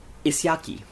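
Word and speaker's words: Ísjaki: sounding tone we have track three which is pronounced isaki which is Iceberg and and uh this was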